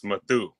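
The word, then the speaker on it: Mathew: yeah one t oh it's Matthew with one t is the real way to spell it and it's a whole different name it's matthu and it's actually going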